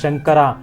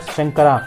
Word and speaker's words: Shankara: shambhu next of Lord Shiva is called as shankara please remember that these are all Sanskrit names